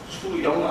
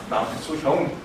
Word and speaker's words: 남수형: 이름 아세요 발음은 비슷해요 제 이름은 수영 아닙니다 저 수영 못 합니다 예 많은 사람들이 저한테 다 형이라고 부릅니다 남수형 예 옛날에 있던 교회에서는